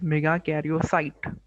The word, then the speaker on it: megakaryocyte: ठीक है, इट is pronounced as मेगाकैरियोसाइट।